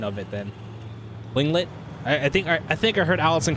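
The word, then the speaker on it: Tlingit: Yeah, the T is silent.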